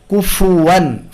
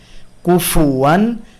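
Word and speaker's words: كُفُوًا: কুফুয়ান, ফা উচ্চারণের সময় আমাদের আওয়াজের দুর্বলতা থাকে, আমরা কুফু ফু এভাবে আওয়াজ ও বাতাসের সাথে উচ্চারণ করতে পারি না অনেক সময়, এই ব্যাপারে সতর্ক থাকবো। ফা, ফু, ফিতে যেন আওয়াজ ও বাতাস পর্যাপ্ত থাকে, খুব দুর্বল ফা, ফু, ফি এই ধরনের যেন না হয়।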